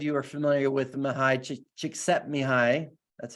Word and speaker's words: Csikszentmihalyi: This is, I don't know if some of you are familiar with Mihai Csikszentmihalyi.